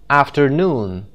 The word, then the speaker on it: afternoon: syllable syllable number two afternoon noon the third syllable syllable number three barbecue barbecue the first